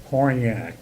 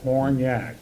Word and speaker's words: Hornyak: Horny, and it's pronounced Hornyak. Hornyak. The way it's spelled, Hornyak.